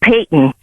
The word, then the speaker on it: Payton: I think that he may have been, you know, on alert because the street name was mispronounced. I believe I believe it's Payton.